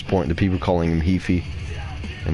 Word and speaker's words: Heafy: But apparently Matt Heafy, or Matt Heafy. Gotta get used to that. It's actually Heafy, not Heafy.